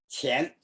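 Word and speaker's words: 乾: acuerdo cómo se pronuncia, Shen, could be the pronunciation of that? qian.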